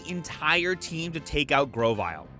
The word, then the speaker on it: Grovyle: Slugma goes down easily but it takes nearly the entire team to take out Grovyle which I now know how to pronounce it's Grove plus reptile duh and then Brendan's Wingull